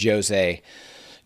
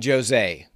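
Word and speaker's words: José: It's spelled like Jose, but they're pronouncing it Jose. Jose Aldo.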